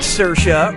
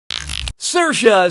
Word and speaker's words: Saoirse: Brooklyn yeah pure you do how do you pronounce her name Saoirse Ronan cyclist well well player four to screw